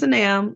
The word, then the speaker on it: Sanam: Oh, by the way, for those of you who haven't spoken to yet, my name is pronounced Sanam, like Sanam I am.